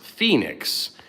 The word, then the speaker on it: Fenix: The name Fenix is pronounced Phoenix with the emphasis on the second syllable.